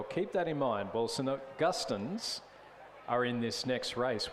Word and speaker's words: St. Augustine's: by Mark McEwen downstairs, who tells me we've been pronouncing it all wrong all along. It's actually St. Augustine's, not St. Augustine's. Augustine's. And he tells me this with great authority because he says it's his second name. And we're pronouncing it, as he put it, the Tommy way. I'm again going to leave that go through to on Gus rather than all.